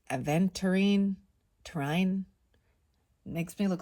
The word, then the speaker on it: aventurine: that wrong or right I always call it atine but it's aventurine Trine makes me look